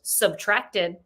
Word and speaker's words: Subtract: album titled with simply a minus sign, pronounced subtracted, or pardon me, just subtract, which is by what artist?